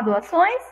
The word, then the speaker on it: doações: Vamos falar doações? Doações. Ó. Doações. Faz uma pressão para sair o ar, a sílaba, pelo nosso nariz.